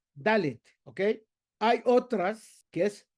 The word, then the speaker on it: Dalet: ¿Cómo se pronuncia la letra Dalet? Poniendo la lengua por detrás de los dientes de la mandíbula superior. Dalet, ¿ok?